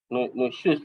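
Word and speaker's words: نشوز: Dan insya Allah untuk kali ini membahas tentang dosa besar nusyud ya. Tentang perempuan yang meninggi kepada suaminya. Nusyuz ya. Bacanya nusyuz ya. Nusyuz. Ya, nusyuz. Berkaitan dengan perempuan yang meninggi kepada suaminya.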